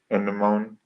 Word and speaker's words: anemone: Anemone? Anemone. Is that how you say it? Oh, I would say it. Anemone.